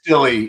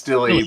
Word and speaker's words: Dille: Is it dill or is it delay or No, it's dilly. It's dilly. But uh it's most people pronounce it dill just simply because I don't know what but they do it.